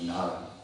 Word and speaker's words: Nada: So Nada, it's written Nada, but it's actually pronounced in Bengali Nara.